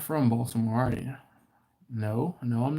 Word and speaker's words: Baltimore: is the fact that I pronounce the T in Baltimore I've talked about this